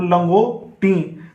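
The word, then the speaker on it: لنگوٹی: लाम गाफ वाव नून लंगो, फिर टे छोटी है टी, तो लंगो टी। यहाँ पर ये नून का जो शोशा है ये हमारी ये न की आवाज़ से आ रही है नाक से, लंगो टी।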